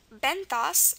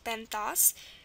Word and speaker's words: benthos: So OS, very common, pronounced os, so benthos.